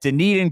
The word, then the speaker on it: Dunedin: public golf available just at the road at Dunedin Golf Club. Also I'm impressed that you pronounced that correctly.